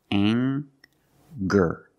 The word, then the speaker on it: anger: We have the nasal ng sound plus the hard G, the g sound. Together, anger. Anger. Anger is a noun, and angry is a description.